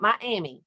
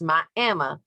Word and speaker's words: Miami: It's not Miami, it's Miami, Oklahoma, as the crow flies.